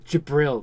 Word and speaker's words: Jibril: summoned the nuke that was funny uh jabril jibril that was her name and it's spelled with a G it's like g-i-l-b-r-a-l no